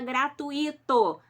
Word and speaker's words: gratuito: é essa palavra em Tem muita gente que fala gratuito tá errado gratuito a palavra gratuito não tem acento no i' e tampouco se fala com a sílaba tônica do ir eu fico doida quando eu vejo gente falando gratuito não é gratuito é gratuito fale certo faça o certo